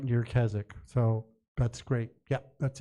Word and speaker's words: Keswick: His family came from Threlkeld, which is just near Keswick, or Keswick is how it's spelled, in the Lake District, pardon me.